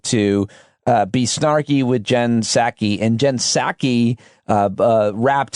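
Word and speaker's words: Psaki: jen pasaki jen passaki saki i think the p is silent who was the former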